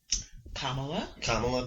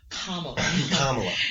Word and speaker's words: Kamala: So, Kamala Harris. Kamala, that's what I was thinking to say when I said what I was thinking. You're disrespectful. Kamala. Yeah, you think of it like the actual comma.